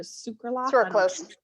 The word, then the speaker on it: sucralose: you say it's circle circle circle say or sucralose thank you i'm so terrible with pronouncing things this is where like the reality